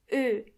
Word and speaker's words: Ö: The sound it makes is Ö. Ö. Start with an O and then try to make your lips a bit closer to each other. Ö.